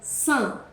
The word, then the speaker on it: Saint: Saint tem que ter um sorrisão. Saint.